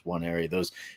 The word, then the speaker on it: Nwaneri: And then defensive lineman Williams Nwaneri, I think is how you say his last name. It starts with an N, but it's NW. So it's Nwaneri.